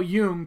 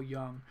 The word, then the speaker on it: Jung: so embarrassed i've been calling him carl young for like five years is his name really carl jung and i think it's pronounced it and i told him you know it doesn't matter it's okay if anything it makes me happy that you've mispronounced it because it means you've read his books you read young because